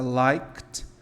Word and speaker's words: liked: Lembra quando o verbo terminar com som de K, like, work, e eu colocar um ED, esse ED tem som de T, tá?